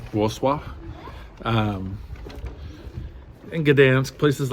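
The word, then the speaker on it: Wrocław: and Warsaw and uh I always mispronounce it spelled like war claw but it's like wall swap um and good dance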